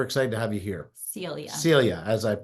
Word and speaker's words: Celia: And as you just heard, Cecilia we're excited to have you here. Celia. Celia, as I Good pronounce thing it you wrong.